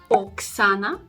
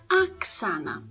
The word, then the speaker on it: Oksana: name is is it Oksana or is it Aksana the first thing that the non-native Russian speakers get wrong is of course to stress the first syllable and they tend to say Oksana Oksana with the o